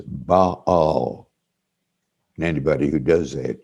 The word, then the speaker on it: Baal: a pagan god now if uh you had attended harvard divinity school you would pronounce this ba all and anybody who does